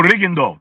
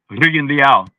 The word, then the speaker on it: Rigondeaux: No Rigondeaux. No, Rigondeaux.